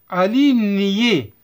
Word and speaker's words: aligné: Aligné. G et N se prononcent nié.